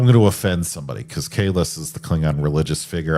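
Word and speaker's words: Kahless: Not Kais who has his name pronounced phonetically in the first five characters after his name on the Wikipedia page.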